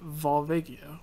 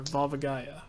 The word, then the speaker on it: Volvagia: Like they made a human form of Volvagia or Volvagaya, however you want to pronounce it.